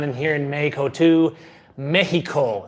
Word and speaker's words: Mexico: Mexico. That's the correct way to say it. Mexico. Mexico. All right. I kind of round that H off, but whatever.